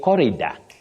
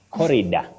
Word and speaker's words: corridor: mhm do we say Corridor coridor do we say Corridor absolutely not Willis not at all no yes we say Corridor cor Corridor the corridor Mentor Mentor garant garanto not